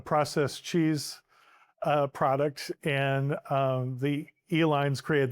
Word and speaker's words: Uihlein: Pabst went into a processed cheese product, and the Uihleins created the Uihlein, spelled phonetically E-L-I-N-E, candy company.